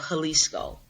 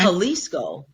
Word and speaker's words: Jalisco: I live in the state of Jalisco. Okay. Jalisco, it starts with a J, Hmm. pronounced like with an H. Yes. Mexican, right? Okay, so the state of Jalisco houses the largest lake